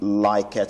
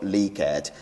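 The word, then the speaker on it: Likert: on a four point like at scale some pronounce this word Likud orders pronounce them like at whichever one that you choose so I call it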